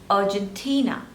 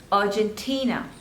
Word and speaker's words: Argentina: on the thirds label Argentina Argentina Argentina here I'm not saying Argentina I'm not pronouncing the letter R because in British English we generally don't pronounce R okay so whether you